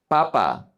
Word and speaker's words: papa: P, papa. This is not dad. Papa is potato, papa. If you change the emphasis and you say papa, that's gonna be dad.